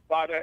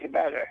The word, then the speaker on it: Nevada: Anyway, what I talked about, people mispronounce the name Nevada. They always call it Nevada, and it's Nevada.